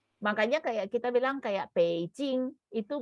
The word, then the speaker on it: Beijing: Tapi kalau sekarang sudah distandarkan, mereka tulisnya adalah Beijing, tapi bunyinya kalau orang kita seharusnya sekarang kita setelah pelajaran ini kita bacanya jadi Beijing.